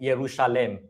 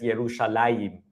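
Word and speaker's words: ירושלים: And the reason is because uh the name Jerusalem in Hebrew was originally spelled in this way uh to be pronounced something like Yerushalem. All right? Originally, it was pronounced Yerushalem. Um however, in later times um the the name became pronounced as Yerushalaim.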